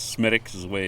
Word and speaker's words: Smithwick's: So Smithwick's is people, us from America, we go over there and we call it Smithwick's, is the way it's spelled, but it's Smithwick's is the way it's pronounced.